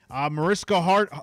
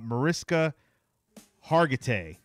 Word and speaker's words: Mariska Hargitay: Mariska Hart. Wow. I never pronounced her name right. Liv. Liv from Law & Order. All right. Mariska Hargitay.